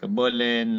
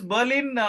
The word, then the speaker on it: Berlin: move to Berlin and this Berlin in German R is silent so they call it Bin not okay